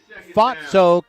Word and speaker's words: Fausto: Well, he pronounces his last name Fatso, kind of like it sounds like if you're in London and there's someone who makes fun of those who are gravitationally challenged.